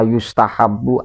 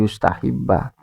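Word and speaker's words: يُسْتَحَبُّ: Wa inna ma yustahabu an yusolliya, ini bukan lagi makna Imam Syafi'i suka, tidak. Apalagi bacanya tadi yustahibba. Yustahabu disunahkan Pak ya.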